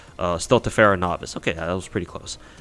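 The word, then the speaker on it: Stultifera Navis: Thankfully, with our next event with Stultivera Novice, am I getting that event name wrong?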